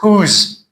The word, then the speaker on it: whose: This is whose and whom. W is silent.